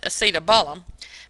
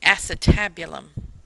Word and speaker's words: acetabulum: It's called, you're going to pronounce it acetabulum, but it's correctly pronounced the acetabulum.